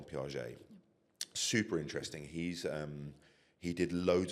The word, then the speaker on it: Piaget: If you can show a picture of Jean Piaget's office, it's spelled, his name is Jean, it's Jean, and his surname is Piaget, Piaget.